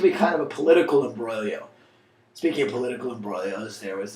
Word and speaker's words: imbroglio: with her next with this imbroglio it's actually pronounced imbroglio it comes from the italian hence my not